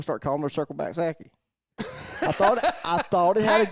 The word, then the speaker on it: Psaki: Go ahead and get comment the hashtag Circle Back Saki, and it's spelled unfortunately PSAKI. The P stands for privilege. So that's why it's silent.